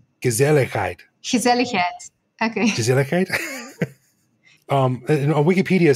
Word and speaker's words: gezelligheid: And it is, I'm going to try and pronounce it. It's gezelligheid.